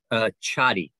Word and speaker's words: Chady: And do you say her name Shady or Chady? Chady. Chady.